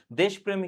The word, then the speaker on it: দেশপ্রেম: ভিতু প্রকৃতি নরুলদার সাহস এবং একই সাথে তার দেশপ্রেমী কিন্তু জাগ্রত হয়েছিল তাহলে এটা এই তিনটাই সঠিক উত্তর এবং এখানে আরেকটা বিষয় তোমাকে জানতে হবে দেশপ্রেম এটি হচ্ছে বানান।